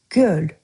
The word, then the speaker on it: göl: Natureful One And master Azerbaijani word of today we have for you today "göl". It's just one syllable.